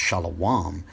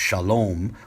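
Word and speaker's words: שלום: the word when it includes the Hwa is pronounced shala WOM our oldest transliterations of a construction containing that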